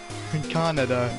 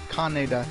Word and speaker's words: Kaneda: Canada, I guess. Canada. Canada. Canada. Canada. No, Jesus. Kaneda, that's its name. It's Kaneda.